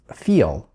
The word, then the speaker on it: feel: Напоминаю, что глагол фиол произносится с небольшим звуком шва в конце. Смотрите, сейчас произнесу без него. Сейчас произнесу с ним л чуть-чуть такого звука, как будто у вас болит живот немного.